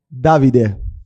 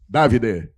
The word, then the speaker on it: Davide: Qual é a pronúncia certa? É David ou David? Davide. Davide.